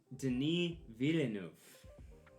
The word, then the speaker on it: Denis Villeneuve: anything so for all you watching it's actually pronounced denis villeneuve or if you're like me and you don't